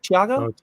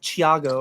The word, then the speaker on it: Thiago: say hisago is it Thiago I've heard him say like like it's a CH I've heard like every pronounce say it's like Chiago or Chiago probably closer to that CH sound since Portuguese Thiago and he strugg like